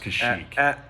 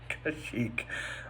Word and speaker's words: Kashyyyk: And my biggest critique was that It's pronounced Kashyyyk. Kashyyyk.